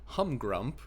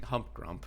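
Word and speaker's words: Humgrump: We saw that humrump. And I need to make sure I don't pronounce the P in there. that doesn't exist cuz I feel like I kept saying hump grump the first three videos.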